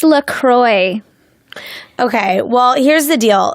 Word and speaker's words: LaCroix: I heard you don't pronounce it like the French would pronounce it, which would be LaCroix. I think it's LaCroix.